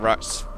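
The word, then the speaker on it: Rtas: Right, so I looked up, and his, I don't know how to pronounce his name, it's like R-T-A-S, it's like Rats, and Rats Vadum, he's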